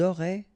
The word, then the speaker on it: auraient: Ils auraient, remember, ENT, you don't pronounce it.